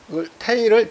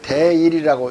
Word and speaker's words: 태일: 또는 태일을 대일이라고 읽기도 해요. 옛날엔 큰 대자를 태로 읽었어요. 오늘날은 대로 읽지만. 자.